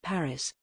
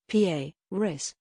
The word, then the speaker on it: Paris: Paris, Paris, the capital city of France, whose pronunciation became a talking point following the launch of the Netflix series Emily in Paris in October.